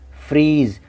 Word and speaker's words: freeze: FREEZE, फ्रीज। अब देखिए ई है आखिर में, वो साइलेंस रहेगा, वो नहीं पढ़ा जाएगा। उच्चारण में हम शब्द को जेड पे ही ख़त्म कर देते हैं, फ्रीज।